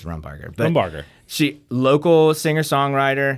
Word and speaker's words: Rumbarger: You can pronounce it literally any way you want. It's fine. Yeah. No, it's seriously, it's Rumbarger.